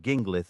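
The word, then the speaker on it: Ginglith: the initial syllable of gingith rhymes with begin not gin.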